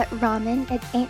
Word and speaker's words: ramen: In Japanese, it's ramen. I said ramen, ramen, because the R can't be pronounced as like R sound because Japanese doesn't have that vowel.